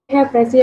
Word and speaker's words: précis: उसके बाद इसको प्रोनाउंस करने का तरीका ये है कि एंड पे जो एस है वो साइलेंट हो जाता है, ठीक है।